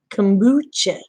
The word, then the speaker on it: kombucha: Tim Boetsch it tombak how are you pronounce it kombucha thank you Dave I have never had that